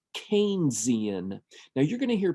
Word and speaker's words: Keynesian: is a little bit more important this is pronounced keian now you're going to hear people say kesian that's actually Incorrect and the reason that I